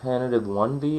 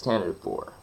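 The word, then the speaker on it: Tantive IV: Vader was in the, I don't know whether it's pronounced tentative 1V or tentative 6. I always say tentative 1V. But no, it's tentative 4.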